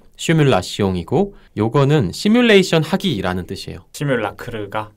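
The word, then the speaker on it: simulation: 그게 맞고 이게 프랑스식 발음법을 그대로 따른 게 시뮬라시옹이고 요거는 시뮬레이션 하기라는 뜻이에요.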